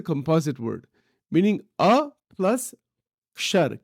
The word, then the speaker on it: kshar: The way it is pronounced in Sanskrit, it is pronounced kshar. It's a ksha. There's a symbol for that, ksha.